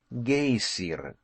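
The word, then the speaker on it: geyser: the waters the gazer a word the icelanders pronounce gaysiren and which signifies fury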